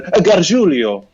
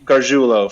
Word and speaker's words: Garjulo: I think when my dad, my great grandfather came from Italy, he probably would have said Garjulio, but we just Garjulo for us. Garjulio. So it does not rhyme with Coolio.